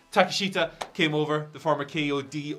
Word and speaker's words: Takeshita: Konosuke Takeshita, I've totally mispronounced his name. Takeshita came over, the former KOD openweight champion.